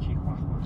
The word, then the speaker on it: Chihuahua: That's pronounced Chihuahua.